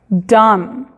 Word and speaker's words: dumb: En las palabras que terminan en la combinación MN o MB, la última letra en estas combinaciones es muda. Entonces, en la combinación MN, la N es muda, y en MB, la B es muda. Como por ejemplo tenemos autumn, autumn, lamb, dumb. ¿Se fijan? No se pronuncia ni la B ni la N.